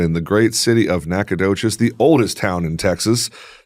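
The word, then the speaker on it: Nacogdoches: the great city of Nacadocious, the oldest town in Texas. Dang it. You have some pride there. Oh man, I should I love Nakodocious with the G is silent people.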